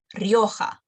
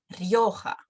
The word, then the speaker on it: Rioja: No, Rioja. Yo, very short. Rioja.